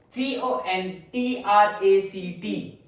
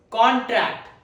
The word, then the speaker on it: contract: Then we have pronunciation two. Contract. Contract. It is used as a verb because second syllable syllable has stress.